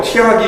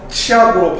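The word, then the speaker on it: 치악: 그래서 중세고어 표기에서는 이렇게 국음마가 적용되지 않은 표기가 이렇게 나와 있는데 얘 같은 경우를 그냥 티악이라고 읽지 마시고 국음 적용해서 치약으로 발음하시면 현대어로 해석하기가 좀 더 수월합니다.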